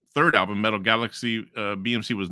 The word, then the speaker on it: BxMxC: what the song means BMC pronounced BMC is a song by